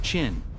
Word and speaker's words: Qin: The kingdom of Chin, pronounced Chin. Yes, that's where the name China comes from.